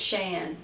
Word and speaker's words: SHEIN: if our browsers correctly shayin a shiny I believe it's Shane that's how you pronounce it but I have